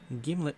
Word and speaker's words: Gimlet: Gimlet peanut butter is a brand primarily noted for arguments how about how to pronounce it. According to the manufacturer, it rhymes with himlet.